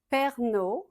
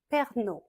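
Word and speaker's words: Pernod: Perrier Perrier Pern Ricard Perna Perna Ça commence pas avec Perrier Perrier Perna Perna Ricard on ne prononce pas le D à la finch Givan chivanchi.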